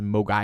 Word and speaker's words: Mogwai: I get you yeah so in Cantonese Mogwai means devil demon or gremlin and the mandarin pronunciation is mo guy II just to add